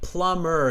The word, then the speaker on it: plumber: By the way, plumber, it's a silent B.